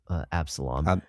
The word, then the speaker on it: Absalom: That's an OM, Absalom.